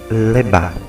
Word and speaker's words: Legba: Hoje nós vamos falar sobre o vodun Legba, pronuncia-se Lebá.